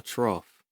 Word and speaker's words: trough: point is called a trough which is a word that i have just been pronouncing wrong this entire time in my head because i thought it was like trial so for sound to